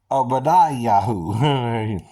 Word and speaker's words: Obadiyahuw: And even Obadiah mentioned in 1 Kings, in the Hebrew, is spelled with an ayin, a b, a d, a yod, a hu, an h or a he, and a w, right? Okay, that's Obadiyahuw. Okay, it's different than Eliyahuw.